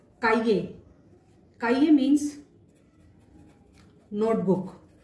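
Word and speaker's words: cahier: काइये, काइये means notebook. सी के बाद ए आ रहा है, से के बाद आ रहा है, इसलिए इसका उच्चारण हो गया काइये, काइये।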